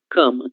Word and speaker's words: cama: Cama. Cama, né? Em português vamos analizar no cama em razão de la letra M que viene depois a OK?